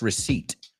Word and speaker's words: receipt: Se escribe receipt, pero es receipt. La P totalmente muda.